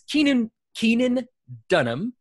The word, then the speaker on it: Keenan Dunham: It's Keenan Dunham. Did I pronounce that correctly?